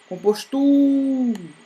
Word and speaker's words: compostura: Se compostura fosse o nome de pessoa e você fosse chamar compostura, ó, o tura é o mais forte, tá bom? Então, ela é a sílaba tônica, ela é a mais forte.